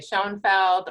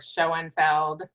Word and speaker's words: Schoenfeld: You can say Schoenfeld or Schoenfeld.